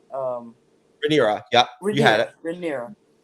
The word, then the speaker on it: Rhaenyra: wife, the queen, and her children, and with Rhaenyra, or however you say her name. Rhaenyra, yeah, you had it.